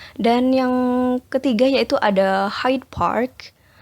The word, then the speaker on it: Hyde Park: Dan yang ketiga yaitu ada Hyde Park. Di sini cara pengucapannya D sound-nya becomes B. Hyde Park becomes High Park.